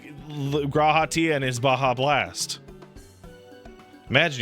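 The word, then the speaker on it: G'raha: Yeah, Grahatia.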